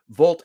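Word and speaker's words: Wolt: it the volt w-o-l-t except it's pronounced with the v in German Vault app so they acquired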